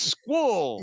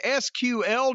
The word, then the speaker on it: SQL: And SQL is Squall. They actually say the letters, you don't try to pronounce it. Well, you can learn Python, HTML/CSS, SQL, JavaScript, and more.